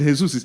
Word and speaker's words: Jesus: But no, it's not even Jesus. They pronounce it the Brazilian way, which is Jesus.